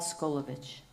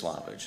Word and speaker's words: Slavich: Paul Skolovich. Well, No, it's it's Slavich, is how it's pronounced.